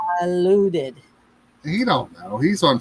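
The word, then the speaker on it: Dilaudid: Fentanyl and diluted.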